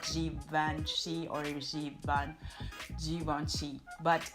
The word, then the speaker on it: Givenchy: Another famous French fashion house is this one here, which is pronounced Givenchy and not Givenchy or Givenchy, but it's Givenchy.